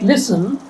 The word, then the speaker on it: listen: In a word like listen silent in Indian languages do we have silent letters?